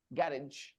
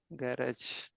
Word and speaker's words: garage: RA okay garage okay and then American pronunciation is garage garage garage in the garage okay so garage and garage these are the two pronunciations of the word okay next um Bobby